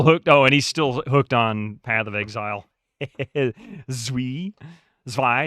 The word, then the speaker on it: zwei: Zwei, excuse me, not Zvi. Zwei, 2. I'm ignorant. I don't know how to pronounce that. Zwei, that's what it is.